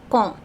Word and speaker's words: quand: Quand, don't pronounce they, okay? Many students or many people who have learned just on their own, sometimes they pronounce it quand or something. No, don't pronounce they. Quand.